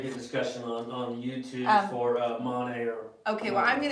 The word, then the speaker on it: Monet: It's not Money Garden. It's Monet's Garden. Like the painter. Like the painter. Monet.